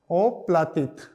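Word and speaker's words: оплатить: बोलेंगे टू पे भुगतान करने को उसको बोलेंगे ओप्लित ओप्लित ठीक है तो यह हो गया ओ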